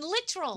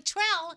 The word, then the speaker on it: Littrell: That Brian Littrell from the Backstreet Boys is pronounced Brian Littrell. You were not right. Brian Littrell, and I was right.